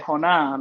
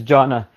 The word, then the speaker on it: Jonah: let me see here Jonah or in Spanish how we say hona let me know if I'm saying it right bro yeah it's uh it's Jonah uh well actually my name